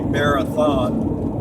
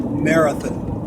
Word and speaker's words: Marathon: certain time near Fort Stockton foreign Texas it's spelled m-a-r -a-t-h-o-n sounds like it'd be Marathon but they pronounce it out here they pronounce it Marathon Marathon but anyway uh it's been a good